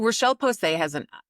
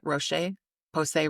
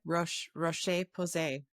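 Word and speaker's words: Roche-Posay: So Rochelle Posay did I pronounce it? Roche? Posay Roche? Yeah. How do I say it? Rocheposay.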